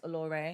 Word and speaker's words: Aloré: It's spelled Alore, but it's Aloré because I'm extra.